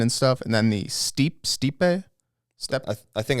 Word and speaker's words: steppe: And then the Steppe. I think it's pronounced steppe. Steppe. That's the I was Mongols. saying steep a bunch, and then I looked at it, and I think it's saying steppe.